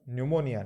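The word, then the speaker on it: pneumonia: को switch off vice town fiction 10th अगस्त निमोनिया निमोनिया दरअसल Amazing जरा शोष भुन गया पहला प्याज साइलेंट है inflammation of Lanka ranges from mild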